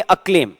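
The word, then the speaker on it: acclaim: अब देखो इसमें पहले सी का साउंड क और दूसरे सी का स नहीं है, ये सीधा एक ही उसमें बोलेंगे अक्लेम।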